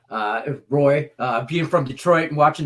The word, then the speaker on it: Roy: I can't stand Patrick Waugh. Patrick Roy, by the way. That's how we pronounce it here. Roy, being from Detroit and watching those Dominic Hasek, those Wings Avalanche, just the series, whatever.